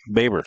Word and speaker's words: Baber: You pronounce it Baber? Yes, sir. Okay, Baber, wide receiver, safety, both seniors.